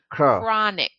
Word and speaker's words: chronic: this word here crap so we know that CH is a K sound chronic core nanak comic con